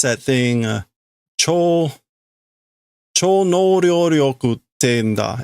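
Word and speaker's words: 超能力: So this is a mispronunciation. I guarantee it. What is ESP? There we go. Cho no ryoku. That's what he's trying to say. He says Cho no ryoku, which is like super cool of the evening power.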